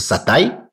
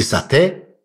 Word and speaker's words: сатай: Первое, о чем мне бы хотелось поговорить подробнее, это сатай или сате в разных странах. Чуть-чуть по-разному это произносится.